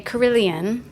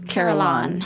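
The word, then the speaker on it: carillon: this word we do the British would say Killian and the Americans would say carolan it's a carolon basically it's an organ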